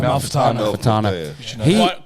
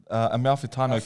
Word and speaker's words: Amalfitano: Amalfitano. Quite achiever, eh? Quite achiever. You know how I remember his name? Tell me. Amalfitano Coast in Italy.